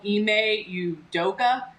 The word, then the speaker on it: Ime Udoka: um so i just want to correct myself ime udoka um because i don't even know what i